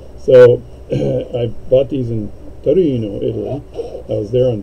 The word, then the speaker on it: Torino: You got to say it like you're Italian. So I bought these in Torino, Italy.